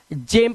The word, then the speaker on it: gem: इसी तरह से GEM को हम गैम नहीं, इसको हम जेम पढ़ते हैं, जेम।